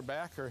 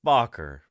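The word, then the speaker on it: Bakker: I know that Dr backer has suggested that maybe some dinosaurs are like this and it's bocker you know let's say his name right you know he's blocker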